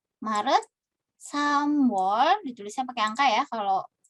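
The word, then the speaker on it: 삼월: Maret, samwol, ditulisnya pakai angka ya, kalau di keseharian gitu ya, hanya dibacanya saja yang menggunakan angka Sino gitu ya.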